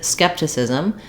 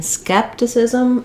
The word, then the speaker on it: skepticism: So in this word, skepticism, we stress on the first syllable, skep, and that means that